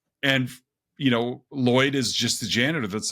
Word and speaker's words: Lloyd: And he's like, "It's pronounced Lloyd." And they're like, "Oh, we've been saying it wrong. We've been wrong for years." Right. It's, "Oh, it's not Lord, it's Lloyd."